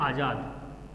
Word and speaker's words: आज़ाद: ठीक है, तो इसमें अंतर क्या होगा, इसको जब हम उच्चारण करेंगे तो ये हो जाएगा AJAD। ठीक है, लेकिन जब इसका उच्चारण करेंगे तो ये बनेगा AZA और D। ठीक है, ये आजाद कहा जाएगा और ये आज़ाद कहा जाएगा।